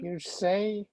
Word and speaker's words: hearsay: Here say.